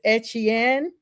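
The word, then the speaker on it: Achane: start talking about looks like, and let me pronounce his name. I know he said it's Etienne. His brother is now with the Saints. The Dolphins are actually signing running back Davon A-Chain, I'm just going to say A-Chain, to a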